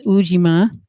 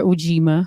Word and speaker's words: Ujima: the third day yes it's ujima correct or ujima however you want to pronounce it and that is collective